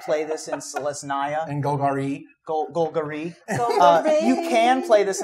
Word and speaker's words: Golgari: You have to say it like Bulgari. Like Golgari.